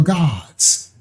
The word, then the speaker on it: Gad: So the tribe of Gad is actually the tribe of God. That's how it's pronounced.